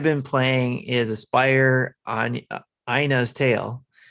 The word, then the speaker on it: Ina: But for me, what I've been playing is Aspire on Ina's Tale. I keep wanting to say Anya's, but it's not Anya's, it's Ina's. I had to look it up because it's spelled INA.